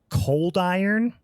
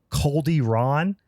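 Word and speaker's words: Coldyron: Cold Ron, but it's Cold Iron is the way that they say it.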